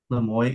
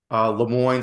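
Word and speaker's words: Le Moyne: Lemoyne. It's spelled M-O-I-S-E. Lemoyne, so like L-E space M-O-Y-N.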